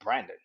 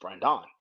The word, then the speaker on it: Brandon: i was like yo i said my name brandon my mom was like no it's brian don it's brand dawn huh and it goes